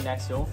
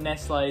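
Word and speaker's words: Nestlé: essay which one is it's definitely Nestle if you call it next lay then you'd probably go to the park that was forward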